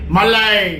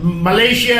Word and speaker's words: মলয়: সুন্দর করে উচ্চারণ করলো অনেকে মাল্লা এরকম বলে কিন্তু উনি যে সুন্দর করে মলয় কথাটা উচ্চারণ করলো আমার এটা খুবই ভালো লাগলো আমি যে বিদেশে গিয়েছিলাম বিদেশে তখন ওরা আমার নামটা মালয়েশিয়া একটা দেশ আছে না